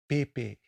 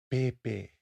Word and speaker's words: pepe: The P is pronounced with a slightly softer tone than the English P, as in pepe, pepe, papa.